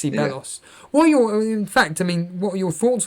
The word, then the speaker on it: Ceballos: You pronounced the start of his name as C, so just Ceballos.